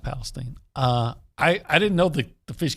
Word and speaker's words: Palestine: Which it is pronounced Palestine.